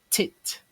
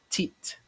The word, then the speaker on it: teeth: Teeth, as in tit, teeth, but it's actually teeth, teeth.